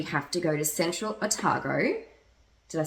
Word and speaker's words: Otago: to Nick we have to go to Central atago did I say that right yes you said